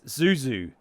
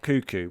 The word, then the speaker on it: Zuzu: It's Zuzu, not Cuckoo.